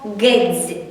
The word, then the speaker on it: гедзь: Наступне слово «гедзь». «Гедзь» вимовляється «дз», в кінці також злитно.